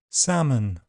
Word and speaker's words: salmon: Elf selves health Welsh help bulb bolt sold milk belch bulge kiln film and L is silent in some words calm palm Arm salmon half chalk talk walk folk yoke would could kernel.